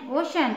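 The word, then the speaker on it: ocean: मिस्त्री या तकनीक ओ सी ई ए एन ओशन ओशन मीन समुद्र फोर्थ एग्जांपल जब सी के बाद एच आए तो उसका उच्चारण च क या श होता है एग्जांपल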